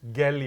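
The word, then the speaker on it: GELI: global executive leadership initiative gelly with a hard g as as we call it so gali for those who are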